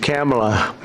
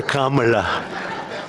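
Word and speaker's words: Kamla: Cam, as opposed to Com.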